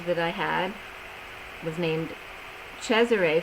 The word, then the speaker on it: Cesare: I had was named Cesare, phonetically spelled. That's the way you pronounce Caesar in Italian, but I didn't like Caesar, but I do like the phonetical pronunciation of Cesare.